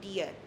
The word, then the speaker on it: dir: Uh here it is not dir or dir, it is wie dir, all right?